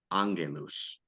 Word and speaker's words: Angelus: I think I've heard him say Angelus, but I say Angelus. Angelus.